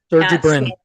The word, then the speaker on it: Sergey Brin: Sergey Brin.